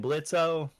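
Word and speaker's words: Blitzø: Blitzo. Yeah. The O is silent.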